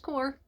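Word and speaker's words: Xcor: Though I don't know how you would pronounce it with the X. I mean, Score would work. But I know it's Core.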